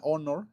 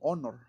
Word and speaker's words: honor: Entonces, la palabra honor, este suena como honor, ¿okay? Con una o. La palabra empieza con h, con empieza, o sea, escrita empieza con h, pero en pronunciación empieza con o.